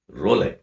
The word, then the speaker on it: roulette: They play A game called ರೋಲೆ, ROULETTE, but you should not pronounce it as roulette ಅಲ್ಲ, role.